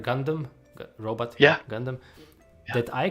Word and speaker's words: Gundam: Did I pronounce it right? Gundam, robot.